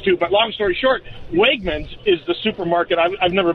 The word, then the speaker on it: Wegmans: you say it is it wegmans or yeah wegmans yes yeah yeah oh it's it's like it's